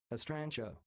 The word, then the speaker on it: Estrontia: It seems to be Estrontia, is that right? Tell me, Google. Nope. Nope. Thanks for choosing my... The pronunciation of this word sounds like Estrantia.